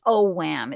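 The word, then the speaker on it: Ogham: they also had the O Wham it's spelled o g h a m o Wham and they had the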